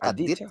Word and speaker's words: Aditya: you will pronounce it, but it is spelled capital Adjtya. The intention was for it to be Aditya. Aditya, Uh-huh. but the nurse made a mistake and put a J instead of an I, and Uh-huh.